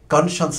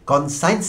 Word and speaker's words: conscience: শুদ্ধ উচ্চারণ হবে কনসন্স যদিও শেষে সাইন্স আছে সাইন্সের উচ্চারণটি এখানে সাইন্স হবে না কনসন্স আমি এই ব্যাখ্যাটি দিতে বাধ্য হচ্ছি।